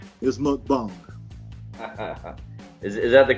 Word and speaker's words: mukbang: look up YouTube look up look bang or mukbang it's spelled mu k ba ng look Bom so